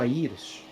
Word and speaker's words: Aires: So his name in Portuguese would be Sergio Aires. That's how you would say his name. Sergio Aires, it would be Aires.